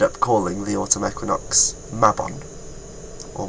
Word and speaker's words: Mabon: Equinox mabon or Mayon I say it mabon because I'm Welsh and I read things phonetically just like when I first read the word sawin I read it as Sam Hine because if it was a Welsh word it would be read like that anyway but my problem with